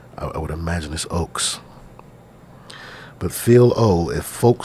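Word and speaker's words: Ochs: say his name right pronounce o-c-h-s thank you youtube has everything go go go hello oops i'm sorry phil ox okay thank you thank you sir thank you sir ox thank you so i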